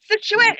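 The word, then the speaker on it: Scituate: So, Paul, what took you and your family to Situate? Is that how you pronounce it?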